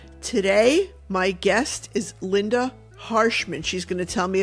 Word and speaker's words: Hershman: I get it right or Hershman yeah it's Hershman not Hershman okay and you can find her um well